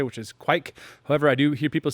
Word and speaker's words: Kveik: with what exactly what I say which is quite however I do hear people say like if you listen to the Old Norse pronunciation it's like and it has you know